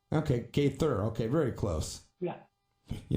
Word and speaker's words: Gaither: going is it am i correct in saying gather is that the right way to pronounce it gaither okay gay thur okay very close yeah you know i got